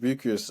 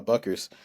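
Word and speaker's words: Bueckers: night um uh paig buers uh uh you know I keep saying the name wrong Paige buckers um put up 22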